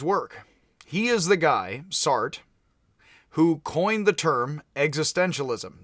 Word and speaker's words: Sartre: It is pronounced S-A-R-T, although it is pronounced Sartre by many people.